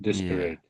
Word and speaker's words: desperate: I think you're saying sort of um, some people say it that way, and they say it that way to remind themselves how to spell it. So the way you're saying it, I can hear that it's two E's, but I can hear the last one is an A. So some people remember it, say it that way to remind themselves how to spell it. But that's not actually how you pronounce it in everyday conversation, that word.